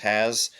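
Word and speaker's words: Hasz: I believe his last name is pronounced Has.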